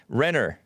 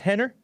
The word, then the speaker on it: Rener: Rener. How do you say it? Henner? Even though it has an R at it? It's pronounced Henner?